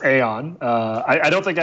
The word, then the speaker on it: Aion: also how do you pronounce it that's it's pronounced Aeon I I don't think I had anything to